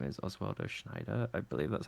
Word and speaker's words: Schneider: Yeah, Oswaldo's full name is Oswaldo Schneider. I believe that's how you say it. You got it. You did it. Your pronunciation's getting so good.